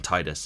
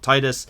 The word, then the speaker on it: Tidus: I'm not saying Tidus. No matter what people want, I'm saying Tidus. His name is spelled Tidus. The game is obsessed with water for some reason, and Tide, it just makes sense.